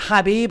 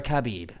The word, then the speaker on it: Khabib: And there's a K in the front, so it's Khabib.